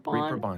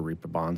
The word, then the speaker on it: Reeperbahn: Reeperbahn, Reeperbahn yeah.